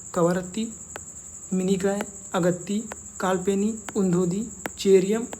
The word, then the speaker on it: कवरत्ती: क्योंकि कहीं-कहीं पे कवारत्ति भी लिखा होता है और कहीं-कहीं कवरत्ती भी लिखा होता है। तो ये प्रोनाउंसिएशन है। इसको देख के आपको कंफ्यूज नहीं होना कि ये गलत पढ़ा पढ़ रहा है या गलत बता रहा है। ये कव्रत्ती कवारत्ति ये लिखा जाता है।